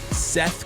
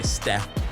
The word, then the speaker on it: Seth: You have to really pronounce the Seth. Like, you can't just accidentally say Steph. Got to be clear, man. Big difference. Got to be real clear. Big difference on that.